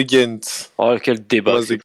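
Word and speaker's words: Gent: On dit de Ghent ou de Rent ? On dit de Ghent.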